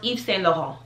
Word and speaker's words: Yves Saint Laurent: but this is pronounced Yves Saint Laurent. Yves Saint Laurent. The T's, all the T's are silent.